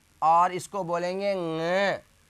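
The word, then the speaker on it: ङ: इसके अंतर्गत आएगा क, ख, ग, घ, और इसको बोलेंगे ng, क, ख, ग, घ, और इसको बोलेंगे ng। नाक से, नाक से बोलेगा, ये न और ग से मिलकर नहीं बना है, मैं उच्चारण के हिसाब से बोल रहा हूं।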